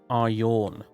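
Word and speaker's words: Aryon: the comments, who said it should be pronounced Aryorn. And I was like, what? Aryorn? Yawn as in, yawn. Aryorn? And then I realized you were probably Americans, so what you actually meant to say was Aryan.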